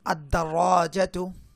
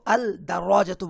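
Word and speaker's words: الدَّرَجَة: আর কিছু কিছু হরফের শুরুতে আলিফ লাম যুক্ত হলে আলিফ লামটা উচ্চারিত হয় না। যেমন আদ-দারাজাতু, আমি কিন্তু আল দারাজাতু বলছি না, বরং বলছি আদ-দারাজাতু।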